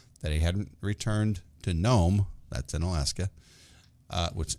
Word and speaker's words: Nome: those who don't know is there a silent g in that name nope it's n-o-m-e oh wow there's a silent e know me no uh